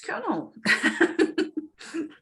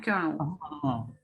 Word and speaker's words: colonel: Kernel is quite a challenging word in terms of spelling and pronunciation because no, yeah, well, I mean, it can be interpreted as that, yeah, but it's not. It's actually another word. A military rank, yeah, colonel.